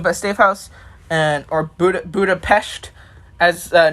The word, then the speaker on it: Budapest: 1872 it is pr it's supposed to be pronounced budapest interesting okay well then